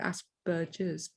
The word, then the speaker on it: Asperger's: use of of um asperger's when i use a hard g i know a lot of people call it aspergers but i call it aspergers because that's what the germans do and asperger was from that area so um yeah i